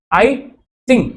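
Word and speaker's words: I-tsing: time में आए थे आई सिंह टी साइलेंट रहता है इसमें 671 से 695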